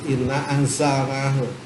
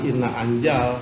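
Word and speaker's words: إِنَّا أَنْزَلْنَاهُ: Sebagai contoh inna anzalnahu, maka dibacanya harus inna anzalnahu. Sesungguhnya Allah telah menurunkan Al-Quran. Jangan inna anjal, kalau anjal kan jim berarti.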